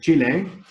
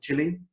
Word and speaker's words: Chile: And so I call it Chile. Even I speak Spanish, and I know that it's pronounced Chile in Spanish, but I still would use the English way of pronouncing it.